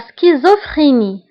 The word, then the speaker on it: schizophrénie: انفصام الشخصية la schizophrénie. La schizophrénie. La schizophrénie. فهنا أيضا CH كنطقوها بك سكيزوفريني و PH كنطقوها بF.